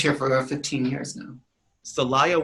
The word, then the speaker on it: Celaya: How do you pronounce that city's name again? You live It's Celaya, Guanajuato.